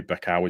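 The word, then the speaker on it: Becão: I'm going to say Becao is how you pronounce that surname.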